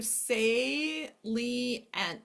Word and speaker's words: salient: one, it's one sound together, shus, or one syllable together, excuse me. Okay, voracious. Here's another one. Let's do salient, salient, okay?